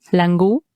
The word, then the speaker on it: Langou: Langou, que es francés.